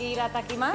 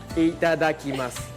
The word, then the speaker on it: itadakimasu: Iratakimasu. Itadakimasu. Itakarimasu. No. No. Itadakimasu. Itadakimasu. Sí. Ok. Claro, itadakimasu. Arigato Ahora gozaimasu. más. Muchas gracias. Y que aproveche. Itadakimasu.